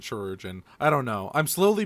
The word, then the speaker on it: Chirurgeon: Yeah, it's a weird way to spell surgeon, I believe. Yeah. But I do believe you still pronounce it Chirurgeon.